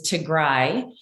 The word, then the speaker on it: Tigray: I just want to correct, the pronunciation is Tigray.